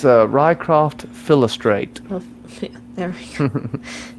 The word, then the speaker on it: Philostrate: Um, and Orlando Bloom's character, his name is Philo, and Philo, I can't remember pronounce the entire name. Philodorphin? It's Rycroft Philostrate.